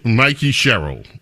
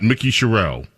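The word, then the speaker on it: Mikie Sherrill: It's Mikey Cheryl. Mikey Mikey Cheryl. Not Mikey. Not Mickey Charelle. Mikey Cheryl. Thank you, Debbie.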